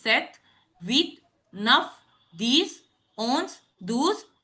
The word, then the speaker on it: sept: P is silent here, which is sept, huit, neuf, dix, onze, douze, treize, quatorze.